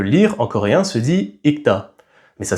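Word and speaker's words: 읽다: Par exemple lire en coréen se dit ikta. Mais ça s'écrit ilta. Sauf qu'on prononce pas le L parce que vu que la deuxième syllabe da commence par une consonne, c'est difficile de prononcer le L.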